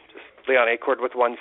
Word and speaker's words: Acord: You pronounced my name correctly with no coaching whatsoever. Well, you're not a Honda Accord. So if your first name was Honda, I would say hello, Mr. Accord.